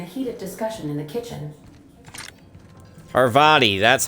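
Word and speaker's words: Parvati: engaged in the heated discussion in the kitchen arvadi that's how you say her name i don't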